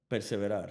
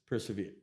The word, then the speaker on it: persevere: You got to perseverar. How do you say that? Persevere. Yeah, persevere.